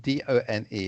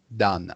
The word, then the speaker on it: done: the word is done d-o-n-e it's pronounced done i know it's written with a letter o but that letter o is pronounced like a letter u like the letter u